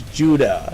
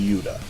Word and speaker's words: Yuda: from the 80s is who's so androgynous he's Judah he's actually Yuda it's pronounced y-u-d-a anyway is um he's a sexy